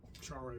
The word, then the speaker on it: Charay: Uh but for convenience here, I'll use one more commonly used pronunciation of share um or char, but let's just stick with share.